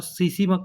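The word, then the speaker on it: tsetse: T silent होता है। टीएसी टीएसी फ्लाई होता है। ट्रिप्टोसोमा गैंबुसिया। इसका याद रखने का आसान तरीका है कि सीसी में टी साइलेंट रहता है।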